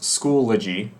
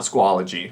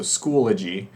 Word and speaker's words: Schoology: of clarifying the pd plan so schoology is pronounced schoology um not squalogy so schoology i know it's a very minor thing we're